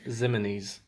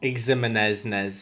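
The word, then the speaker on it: Ximines: Sam O'Shane Zimenez. Not Ximenez or whatever.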